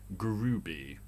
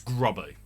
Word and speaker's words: Groby: grubby it's spelt grubby apparently he pronounce it grooby no no no if it was group b it'd have an extra o or maybe a u it's grubby it says grubby there's no e in there maybe an e after the b grubby it says grubby i will sp it's spelt grubby it's not groovy it's grabber this is